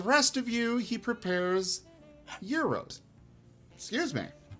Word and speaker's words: gyro: prepares Euros excuse me you're you said it right well yeah yeah yay you know how many people say gyro touche a lot I want the gyro I also uh lived I I was born and lived in uh Ohio a lot of my life uh often on and Ohio has quite a few Greek ve uh festivals so you know I'd learned how to say it properly that said there is